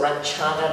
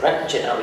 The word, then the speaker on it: Ranjana: So Ranchana became my name instead of Ranjana which is a proper Tamil pronunciation you see.